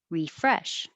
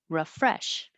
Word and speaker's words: refresh: incessant and number nine you can say re or raw at the beginning first one refresh second one refresh because it's not stressed it'll be very short and go by very